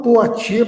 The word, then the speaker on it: Poitiers: Se fala Poitiers, mas é uma expressão, é uma pronúncia francesa, tá, gente? Em português ele escreve Poitiers, tá?